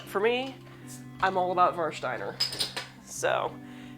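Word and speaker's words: Warsteiner: me I'm all about Marsh diner so and that is the German pronunciation so war Steiner that's how you can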